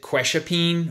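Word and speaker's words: quetiapine: one and then ice I pronounce it question pain or kind of like Ke$ha Ke$ha peen and you can think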